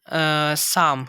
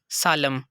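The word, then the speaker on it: psalm: तो इसकी प्रोनाउंसिएशन करेंगे हम साम, ना कि सालम।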